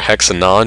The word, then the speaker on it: hexanone: So here's an example of 3-hexanone, or hexanon. You'll hear it pronounced differently depending on where you are.